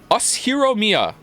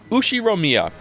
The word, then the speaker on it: Ushiromiya: His name is pronounced why can't I not say the last name? Ushiromiya.